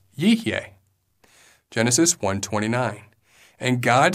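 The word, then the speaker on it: יִהְיֶה: One example is in Genesis chapter 1, verse 29, where it is pronounced Yihyeh.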